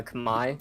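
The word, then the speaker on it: Khmer: what is that it's called Uh Kamai it's it's spelled weirdly it's k-h-m-e-r imer Kamai uh it's the language for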